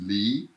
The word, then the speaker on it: 离: of the star of the video today is lee and it looks like this it's a kind of a fun looking character it's pronounced b and the the formula for how